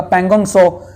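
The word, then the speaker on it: Pangong Tso: पैंगोंग सो, जो पैंगोंग लेक है, पैंगोंग सो, TSO बोलते हैं, सो बोलते हैं, टी साइलेंट होता है।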